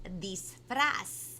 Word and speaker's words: disfraz: La palabra de hoy es disfraz. That's right. That's how you say it in Espanol. So everybody on the count of 3, I want everybody to say disfraz with me.